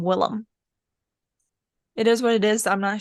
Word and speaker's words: Willem: His name is not William, and I've Yeah, spent all these years thinking he was William. nope. Why Willem. didn't anyone tell me sooner? Well, it's spelled like Willem.